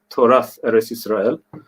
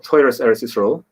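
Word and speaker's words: Torat Eretz Yisrael: And Machon Shiloh, or the concept of Torath Eretz Yisrael, or Toras Eretz Yisrael, however you prefer to pronounce it, I'm easy. I actually still, if I'm being lazy, I most easily lapse into Ashkenazi pronunciation.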